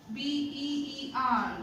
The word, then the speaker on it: beer: So please don't think you have to put the R symbol. That's the difference between our pronunciation and the native speakers. So B, ear, beer. Okay, this much only, beer.